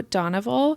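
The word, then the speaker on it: Doneval: the first one that I have is benzo donoval he's the immensely powerful businessman from melison and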